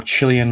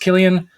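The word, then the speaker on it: Cillian: be confused with San or chillian Murphy as I have referred to him numerous times before I looked a clip of him up on YouTube saying his name and it is pronounced Killian so I've been saying it wrong for all these years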